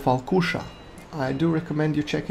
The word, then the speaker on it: Falkuša: which had such similar sails, which is called Falkuša. I do recommend you check it out. It's spelled F-A-L-K-U-S-H-A, Falkuša.